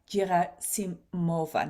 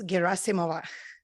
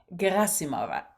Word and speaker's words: Gerasimova: And today I'm going to interview Gerasimova. No, I think I'm mispronouncing it. please give me your correct pronunciation for your last name as well. It's Gerasimova. Gerasimova.